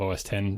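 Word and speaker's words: Mac OS X: and I noted that even Steve Jobs had said X instead of 10 on stage.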